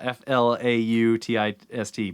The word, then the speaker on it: flautist: It's spelled flout. Oh, really? Yeah, F-L-A-U-T-I-S-T, but it's maybe it's flautist?